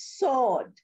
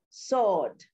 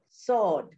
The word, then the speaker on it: sword: simple now a pronunciation of a word like s-w-o-r-d the word is pronounced as sword sword sword s-a-w-e that is how it's pronounced it is